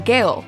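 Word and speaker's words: Gehl: last name correctly it's gail is that right gail just like the woman's name and you're originally from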